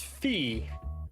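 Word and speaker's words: φ: Now this is phi. Phi with the F sound at the beginning.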